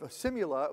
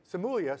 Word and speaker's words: SIMULIA: doosy stem is the director of simula which is a product of a company simulia sorry thank you I got to say it right since I I said dooc stem correctly but um uh